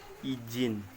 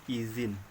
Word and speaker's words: izin: contoh pelafalan tidak baku izin menggunakan J kelaparan bakunya itu pakai Z izin revisi-revisi di fitnah fitnah